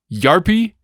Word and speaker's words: Jarppi: I'm going to butcher all these names because I believe in the language a J is pronounced as a Y sound in the English tongue. So it's we've got. Is it Yuks, Jarppi, HP, and Jarno?